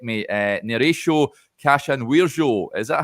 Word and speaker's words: Neraysho Kasanwirjo: But in Holland we say Neraysho Kasanwirjo.